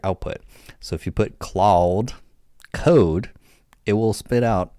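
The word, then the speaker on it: Claude: C L A U D E. Cloud, not cloud. Cla.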